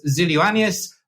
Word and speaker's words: Xyloyiannis: procure Tech podcast zilus from Hicks and I apologize now I've probably butchered your name no did a great job thanks uh James really